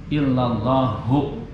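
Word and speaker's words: إلا اللهُ: Nah, karena dia awalnya maujudun, domah atau rofa, maka lafaz Ismul Mu'azzamnya juga harus rofa juga. Jadi bacanya illallahu.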